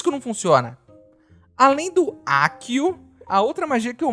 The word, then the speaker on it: Accio: Inclusive, um ouvinte muito perspicaz me disse que eu estou pronunciando errado e que na verdade é Accio.